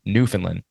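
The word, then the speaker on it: Newfoundland: pronounce it so it's New Finland New Finland New Finland yeah you got to get that D on the end yeah so you don't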